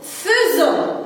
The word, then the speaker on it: faisons: Ça s'écrit comme faisant, mais ça se prononce faisons. Alors, AI se prononce comme E. Et à la fin, O, N, S. Et S se prononce comme Z parce qu'il est entre quoi? Très bien, entre deux voyelles.